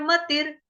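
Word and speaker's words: मतिर्: टिके रहना, मतलब स्थिर मतिर, म त ई, म पूरा, मतिर, त के साथ है छोटी की मात्रा, उसके आगे है र आधा, उसका उच्चारण रफार वाले र की तरह ही आएगा, ठीक है।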